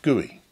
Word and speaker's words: GUI: is known as the graphical user interface or GUI which can be pronounced guey make sure you know